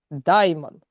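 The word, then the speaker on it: δαίμων: Як перекладається з грецької слово демон? Яке производне слово демона? Даймон. Даймон, да? Ну, типу в такої в такій вимові.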